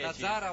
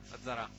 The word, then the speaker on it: Lazzarà: Lazzara o Lazzarà? Lazzarà. 17-10. Nell'elenco che ci hanno dato non c'è l'accento.